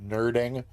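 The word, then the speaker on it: nurding: all of you for following and also nerding it's n-u-r-d-i-n-g uh but that's got to be pronounced nerding and uh frankly I I typically object when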